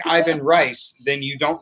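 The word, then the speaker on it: Ivan Reis: I call him Ivan Reese. I've heard Yvonne Reyes. I've heard all kinds of things.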